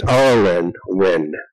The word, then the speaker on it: Auralynn Nguyen: where the viewer is sitting, but this is Auralynn Nguyen. Did I pronounce the name correctly?